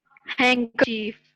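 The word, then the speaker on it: handkerchief: आगे जो ना इसमें ये चिफ प्रोनाउंस किया जाता है इसको, हैंकरचीफ, ठीक है।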